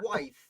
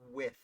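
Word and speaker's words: Wythe: of trouble about george with it's not george white as i have put said in dozens of videos it is with oh really i've always pronounced it wife too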